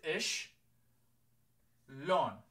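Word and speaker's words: شلون: a lot okay so let me teach you how to say it again is ich lon and we use that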